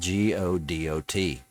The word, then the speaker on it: Godot: Which drives me crazy because it's spelled Godot. Godot. Like the artist.